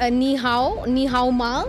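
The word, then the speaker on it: 你好吗: Excellency, I can also say ni hao ma. Is that right? Am I pronouncing it correctly? That's perfect. That is perfect Chinese pronunciation.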